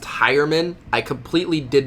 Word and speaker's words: Heuerman: name was it pronounced heuerman I completely did not understand how that was possible when his name is spelt H e you are like how do you get high out of that I don't understand Flacco